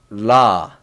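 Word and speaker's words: 라: I explained before, Korean, we don't have R sound, so it's all L sound. There is no R sound, so it's la, la, la.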